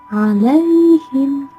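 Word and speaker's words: عليهم: An'amta, an'amta, bukan am'amta, namun an'amta alaihim. Hukum bacaannya mad layyun karena ada ya sukun yang didahului oleh fathah. Cara membacanya ialah harus terang di bibir dengan mulut tertutup. Alaihim, alaihim. Bukan seperti itu, namun alaihim.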